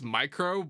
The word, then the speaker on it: Mycrow: So it's Mycrow, but it's spelled M-Y and C-R-O-W, like the bird.